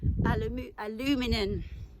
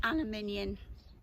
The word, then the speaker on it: aluminium: often used to say, how do you say that in England? Aluminum. Okay, no, it's aluminium.